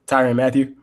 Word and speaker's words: Tyrann Mathieu: Tyrann Mathieu.